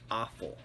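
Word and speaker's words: offal: learned a new word the word is pronounced awful it refers to the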